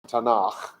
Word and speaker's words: Tanakh: time, which means that the acronym Tate, Nun, Chaf, pronounced Tanakh, came about at a later time.